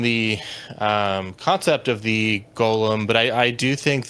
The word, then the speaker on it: Golem: of uh the Jewish mysticism concept of the gollum uh Golem um I I uh I'm fairly I've gotten